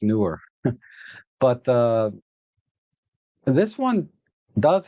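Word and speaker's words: Neewer: It's pronounced newer, but uh this one does have S1 and S2 mode.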